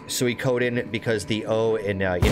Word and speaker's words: Suikoden: think it's actually pronounced Suikoden because the OU and you know the Japanese language their vowels are always long vowels there there's always like